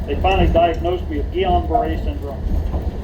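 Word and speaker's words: Guillain-Barré: finally diagnosed me with guon Beret syndrome some people pronounce it Gillian Beret it's one of the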